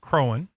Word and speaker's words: Croghan: Colonel George Croghan, and his name is pronounced Crowan, by the way, and that's one reason why this was not named Croghansville, because the GH is silent and no one would say Crowan.